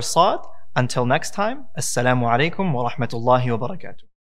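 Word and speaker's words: صاد: a few tries, inshallah, you'll be able to pronounce it with heaviness without having to round your lips to make it heavy. And so that is the letter Sa'd.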